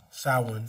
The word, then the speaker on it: Samhain: In modern times, Samhain, a Gaelic word pronounced Samhain, that's what I was supposed to say it, is usually celebrated